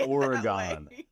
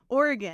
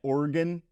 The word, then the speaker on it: Oregon: Trail and I thought no stop Oregon not Oregon you can't say oron Oregon I also I practice